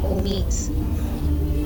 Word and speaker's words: omit: Your second choice is to divide before the consonant and place the accent on the second syllable, as in omit. Vowel O, consonant M, vowel I, omit.